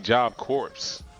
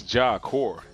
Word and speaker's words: Job Corps: It's C-O-R-P-S. Not like how it sounds, right? That's stupid. It's like, because it's supposed to be Job Corpse. But it's Job Core.